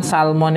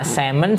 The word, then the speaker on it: salmon: phonetic alphabet nya itu saya ternyata l-nya nggak dibaca ya semen semen itu ya bukan Salman maka ketika orang ngomong saemen Saya akan pernah tahu dia ngomong salmon gitu nah ini contoh yang